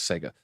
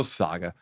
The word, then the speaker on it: Saga: move them around right Saga I thought was Sega Saga launches I literally asked I'm not gonna say his name I say Sega the the game company he's like yeah yeah no Saga all right Saga Saga